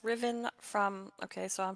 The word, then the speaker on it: Ruthven: this card represents Lord's Ruthven pronounced Riven from okay so I'm